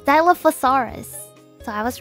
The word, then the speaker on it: Dilophosaurus: Dilophosaurus means two crested lizard um it is pronounced Dilophosaurus Dilophosaurus so I was wrong Dilophosaurus it is part